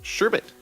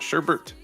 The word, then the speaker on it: sherbet: wrong their entire life sherbet there's no r in the second syllable it's not sherbert uh you don't need